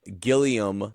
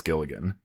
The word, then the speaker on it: Gilligan: Um but uh Vince Gil Gileiam, not Gilligan, by the way.